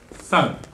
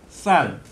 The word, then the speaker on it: 쌀: 쌀. 아니, 경상도 사람들 못한다고 놀리셔서. 예, 아니, 이게. 쌀. 아, 지금 굉장히 이제 고위층에 계시다 보니까 표준어를 쓰시려고 애를 쓰시는데요. 원래 우리 경상도 사람들은 쌀 발음을 못하게 되어 있습니다.